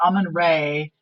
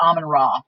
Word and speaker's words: Amun-Ra: So you can spell it Ra or Re, it doesn't matter. So Amun-Ra, A-M-E-N Ra, or Amun-Re, A-M-U-N-R-E. It's the same thing. And I just call it Amun-Ra.